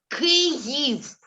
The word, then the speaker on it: Kyiv: And Kiev es ist sowjetische Nomen für der Stadt. Aber in Ukrainian, Kyiv.